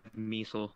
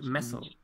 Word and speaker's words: Messel: Oh, by the way, shell it's pronounced Messel. Actually. Messel, sorry. Yeah. I used to call it Messel. I don't know why I suddenly started calling it Measle.